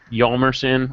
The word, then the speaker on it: Hjalmarsson: Yalmerson, which nobody ever pronounces correctly because he has that H in front of his name. Hmm. How would you even? I don't understand people who try to throw the H in there. It makes no sense.